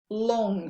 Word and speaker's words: long: Long, longue. So we're not pronouncing the G here. Long, but we are in the feminine.